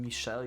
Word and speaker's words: Michelle: uh learned the name Michelle you told me to use French pronunciation which is Michelle I don't think I